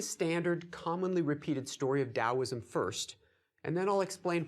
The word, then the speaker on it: Taoism: our lecture today okay taoism is sometimes spelled with a d and sometimes spelled with a t the t is an older romanization the sound has always been a d so it's Taoism after that excavation at